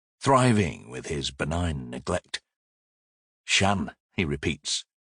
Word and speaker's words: Shan: Shan, he repeats. A short a. It rhymes with van.